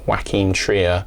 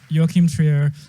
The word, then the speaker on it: Joachim Trier: directed by wacken trio i'm pausing here to acknowledge i mispronounced mr trio's name here i made it sound like he was a combination of these two guys here's how it should be pronounced joachim trier joachim trier joachim sphere um and